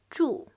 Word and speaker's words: 祝: 祝 This is the fourth tone. It's strong down, feel like angry.